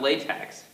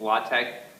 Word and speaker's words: LaTeX: spelled l ex word of viice do not pronounce it that ex it's not latex it's latch latch um that's just how it's officially pronounced